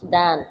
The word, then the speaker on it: than: How will then you pronounce? Dan.